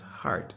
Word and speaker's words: HEART: No, the proper pronunciation is HEART, H-E-A-R-T, HEART Trust.